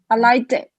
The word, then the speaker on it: liked: There, this is interesting because there, if you're going to join it to a word after that, you pronounce it somewhere between a T and a D.